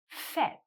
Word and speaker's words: fait: If you heard my pronunciation, you would hear that I said fait. fait Now, when an e is put on the end of the past participle, fait, the sound of the vowel changes.